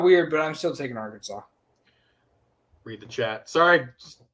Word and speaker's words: Arkansas: houston okay awesome next we have cincinnati at our kansas it's it's pronounced arkansas they clearly they clearly know something we don't